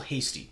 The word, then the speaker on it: Hasty: make sense uh the 49ers running back michael hasty that's how you say it michael hasty uh